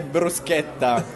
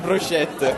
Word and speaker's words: bruschetta: It's the bruschetta. It's not bruschette, okay?